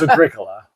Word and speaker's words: Agricola: Because you're like, we don't know how it's pronounced. Oh, well, we do. It's Agricola.